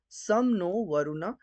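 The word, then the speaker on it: शं नो वरुणः: द एंबलम of Indian navy contains the motto सम नो वरुणा pronounce सम नो वरुणा which means B एस्पिशियस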